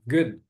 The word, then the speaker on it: good: E conforme eu falei, não vai colocar um I aqui, né? Good, não é good, é good.